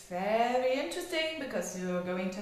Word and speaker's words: Veerle: my name is is the pronunciation is ver so it's not ver or it's it's typical Flemish typical Flemish name and very common here